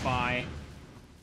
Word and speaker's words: Fi: that does that and yes her name is pronounced by there we go they even like there's even a narrator in Hyrule Warriors Definitive Edition that mentions her by name it's it's pronounced by there we go